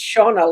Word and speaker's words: Shona: Yeah, so what Donna there is being pronounced, it is Shona like Donna, but instead of Yeah.